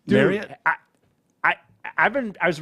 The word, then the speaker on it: Marriott: way it's Marriott it have you ever noticed that Marriott it's marot I I've been I